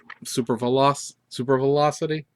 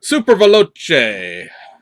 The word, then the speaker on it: Super Veloce: Super Velocity? That's right? Super Veloce.